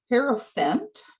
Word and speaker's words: Hierophant: The Hierophant, which I'm never good at pronouncing. I know it rhymes with elephant.